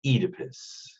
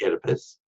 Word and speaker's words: Oedipus: in the play that they all pronounce it Oedipus which is probably more accurate although in Americanized English we say Oedipus so the legend of